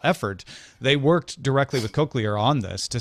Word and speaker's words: cochlear: could have a good laugh at how I pronounced it with my Midwestern accent but it's cochlear anyway yeah Apple Apple has done a lot